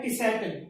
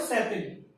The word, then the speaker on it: Tsetan: इसको अलग अलग तरीके से प्रोनाउंस किया गया है। जैसे एक तरीका यह है टिसैटन, टी को अलग बोलिए और सैतन, ठीक है, तो टिसैटन बोला गया है यहाँ पे। और भी तरीके हैं, सेतन भी बोला गया, तो